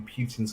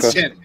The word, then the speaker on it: Putin: Oh, It's funny that today, I was in my local town today, and part of me feels like maybe Putin's got a point, but Is that what you call him, Putin?